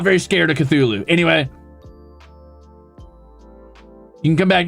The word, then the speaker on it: Cthulhu: I think it's Cthulhu. Like there's a sound and you cut it off before you get any vowel sound like Cthulhu because it's supposed to be like inhuman, right? Like unpronouncable or whatever.